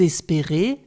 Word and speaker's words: espérez: On a la même chose à la deuxième personne plurielle, « vous espérez ». Le « z » de la terminaison n'est pas prononcé.